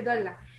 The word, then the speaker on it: Dolla: Dola, Doya ou Dola, je ne sais pas comment ça se prononce. Dolla. Allez-y. Dolla. Oui, c'est Dolla.